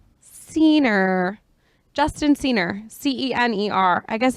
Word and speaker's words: Cener: If you can't see his last name, it's, how do you pronounce it? Cener. Cener.